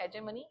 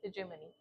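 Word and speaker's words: hegemony: एंड जो political हेजेमनी थी, political हेजेमनी, इसका प्रोनाउंसिएशन क्या होगा, नॉट हेजेमनी, हेजेमनी, political हेजेमनी, जो पॉलिटिकल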